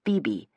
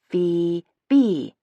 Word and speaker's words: Phoebe: My name is Phoebe. Phoebe. I sounded out slowly as though I'm speaking to a child. Two syllables. Rhymes with itself. Super easy to say.